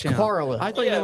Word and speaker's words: Corolla: Coral. No, How do you s- Corolla. They say it down there. Corolla? Dude, Yeah. they've said Oh, wait. The beach, Corolla. Corolla, the beach It's town. Corolla.